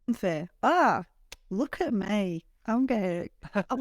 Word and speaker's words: Pamfir: And moving on now to our next review, and you're going to have to help me with the pronunciation here. So is this Pamfir? Yeah, Pamfir. Pamfir.